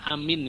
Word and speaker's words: amin: Bagaimana yang paling sering kita dengar ya, kata amin misalnya. Ya, kata amin itu kalau Bapak Ibu baca waladhdallin gimana? Waladhdallin. Terus bacanya apa, Pak? Amin. Ya. Amin. Itu berarti dua-duanya panjang ya. A-nya panjang, mim-nya panjang ya.